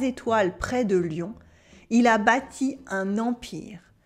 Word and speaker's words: Lyon: It's pronounced like the animal, un lion, un lion.